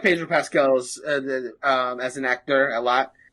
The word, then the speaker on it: Pedro Pascal: We found out that the role actually went to Pedro Pascal. Is that how you say his name? Pedro Pascal? Pedro Pascal, yep.